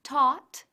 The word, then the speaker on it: taught: Decimos caught y taught respectivamente.